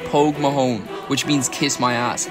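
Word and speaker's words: póg mo thóin: to kiss his ass there's a well-known phrase in the Irish language pronounced Pogue Mahone which means kiss my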